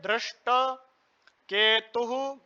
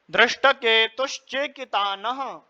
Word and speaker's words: दृष्टकेतु: आएगा मतलब ध्र तो तो फिर किस प्रकार उच्चारण करेंगे? दृष्ट केतु चेकितान दृष्ट अब दोनों मिलाकर के बोलेंगे तो कैसे बोलेंगे दृष्टकेतुन दृष्टकेतुन काशीराजसर्यवान काशीराजसर्यवान दृष्ट केतु